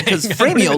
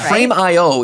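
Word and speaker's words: Frame.io: optimized phrase they say you say frameo like flows right frame IO is like three very distinct syllables which are just not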